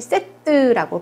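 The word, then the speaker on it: sept: 7은 세트라고 발음하는데요. 요거 특이하게 빼는 발음이 되지 않아요. 그런데 끝에 때는 또 발음이 됩니다. 그래서 발음이 세트라고 발음이 되는 거예요.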